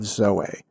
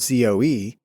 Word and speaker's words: zoe: in another conversation, but I just remember it's spelled Z-O-E. And I only used it for a short time because people called our ministry initiative Zoe.